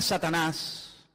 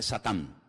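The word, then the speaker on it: שטן: la palabra la palabra Satanás que significa adversario es un nombre que viene del hebreo en hebreo no se dice Satanás dice satán que significa adversario y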